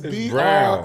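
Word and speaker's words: Braun: No, it's Brown. It's B-R-A-U-N. But it's Brown. It's pronounced Brown.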